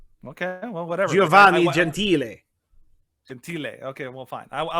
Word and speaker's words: Gentile: Gentile? Yeah, Gentile. Yeah, so Italian. Yeah, but it's pronounced Gentile. No, it's not. Okay, well, whatever. Giovanni Gentile.